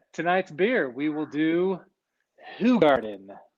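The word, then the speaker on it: Hoegaarden: beer we will do who garden often pronounced hoe garden but if you want to be accurate it is technically who garden and tonight it's called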